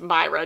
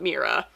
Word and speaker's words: Myra: By the way, my name is pronounced Myra, not Mira.